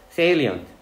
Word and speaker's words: salient: Salient, 현저한. 현저한. 이거 어떻게 외웠냐 하면은, 얘가 이제 그 발음이 sail이 들어가잖아. 이게 salient가 아니에요. Salient, 이게 A 발음이 돼.